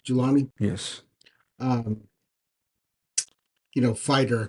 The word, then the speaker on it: Julani: there was a serious in um I can't pronounce his last name jalali jalani julani yes um you know fighter crucifying a Christian